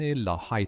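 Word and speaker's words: La Haye: فرانسویان لا های تلفظ کوي.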